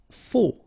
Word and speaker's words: faux: Faux. Okay, final X not pronounced, then you get this AU together, O, faux.